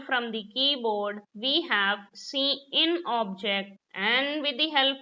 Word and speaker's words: cin: Cout is pronounced as cout, cin is pronounced as cin.